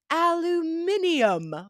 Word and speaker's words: aluminium: so the next word we say aluminum but in the UK and other colonies that are connected to British English uh that were colonies they say aluminium which is also very